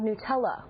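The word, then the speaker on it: Gnutella: The Napster emulator is called Nutella with a silent G in front.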